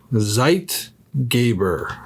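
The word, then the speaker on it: Zeitgeber: how to say it it's said zeit gabber zeit gabber all zeit gabber an environmental cue as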